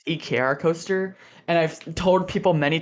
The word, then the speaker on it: Ekrcoaster: an eager coaster because i always thought it was acrocoaster am i technically pronounced ekr coaster and i've told people